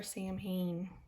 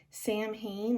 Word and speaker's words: Samhain: Okay, and last, the candle for Sam Hain. And she says, I made this special for you all. Sam Hain, or pronounced Samhain, originated from the Celtic